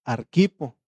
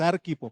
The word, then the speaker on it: Arquipo: Y por último mandó que dijeran a Arquipo, no es Arquipo porque no lleva acento en la Arquipo.